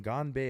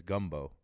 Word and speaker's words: ganbei: Bro, you were pronouncing Ganbei as gumbo.